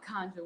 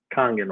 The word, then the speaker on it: Kangen: I knew about the conjure water, right? Or I say conjure. That's how you say it, right? It's Kangen water, yeah.